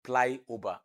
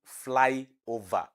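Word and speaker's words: flyover: road for me and he said ply ober and I missed my road because I don't I did not understand ply ober not knowing that it was saying fly over so ply ober is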